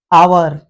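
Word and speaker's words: hour: आ जाए तो H silent हो जाएगा इस स्पेलिंग को देखें आवर आनर और एयर इनमें यदि एच के बाद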